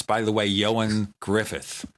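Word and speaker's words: Ioan Gruffudd: It's, by the way, Ioan Griffith, although it's spelled in Welsh. That's why it sounds like something else.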